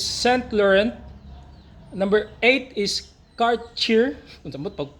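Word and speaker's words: Cartier: laurent Number eight is car cheer sa pagpronounce an car cheer car cheer o car cheer number 9 is Balenciaga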